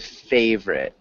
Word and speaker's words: favorite: more like favorite favorite just try those two syllables so I know you're